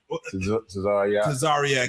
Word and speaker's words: Tazaryach: Man, Captain Tazaryach. Tazaryach. Yeah. For those who mispronounce it, like what I don't get punishment?